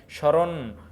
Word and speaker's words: স্মরণ: তালেব্যস এর সাথে মমানে যত জায়গায় ম ফলা আসবে একটু নাসিক্য উচ্চারণ হবে মানে স্মরণ স্মরণ শ্মশান যখন উচ্চারণ